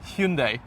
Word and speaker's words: Hyundai: it h Hyundai is it supposed to be Hundai Hundai yeah I can't pronounce it that way neither can I so